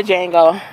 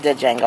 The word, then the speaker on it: Django: his name all right I know the D is silent see y'all off the